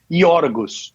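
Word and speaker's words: Γιώργος: Porque o nome do cara no original grego era iorgos, né? grego. O nome Jorge em grego se escreve e se diz iorgos.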